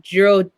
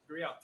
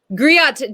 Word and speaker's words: griot: I hope I don't say the name wrong, but I think it's called Giro Jali. Griot. Griot Jali.